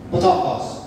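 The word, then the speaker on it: πτωχός: baik-baik kata yunaninya adalah p t o k h o s b t o k h o s Bacanya adalah tokos tokos tokos artinya orang yang hidupnya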